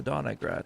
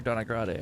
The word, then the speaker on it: Donagrad: She was the Donagrad here. Or Donagrade, I should say. How they say it.